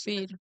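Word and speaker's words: Feid: year for feed congratulations feed that's how we pronounce feed is a Columbian singer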